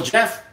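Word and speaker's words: Geoff: call you Jeff because that g was throwing me off so yeah Jeff is much easier that G I couldn't pronounce it right like I I used to pronounce it um like GI something like that because my friend's name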